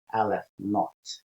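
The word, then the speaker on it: aleph naught: hebrew letter left okay so this is aleph zero sometimes pronounced as alif naught that would be n-o-e-g-h-t okay so we will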